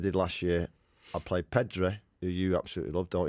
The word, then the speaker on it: Pedri: I'd play Pedri, who you absolutely love, don't you? That's how you pronounce it.